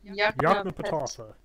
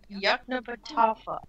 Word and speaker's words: Yoknapatawpha: Yoknapatawpha. Yoknapatawpha.